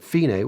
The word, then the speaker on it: fine: with this fine marking and that's how I pronounce it finae which just means the end so in r92